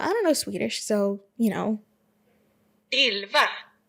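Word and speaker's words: Elva: don't know Swedish, so Ilva. Oh, see, there's like, what do you call them? Emphasis on syllables that I wouldn't have even known. Let's have it again. Ilva.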